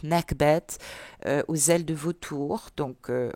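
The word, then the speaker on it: Nekhbet: connu on a ici n'est que bêtes il faudrait que je le prononce mieux que ça d'ailleurs nac bête aux ailes de vautours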